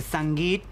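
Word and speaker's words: sangeet: for both families and that's called a sangit or if you want to pronounce it properly the sangit and that's what's going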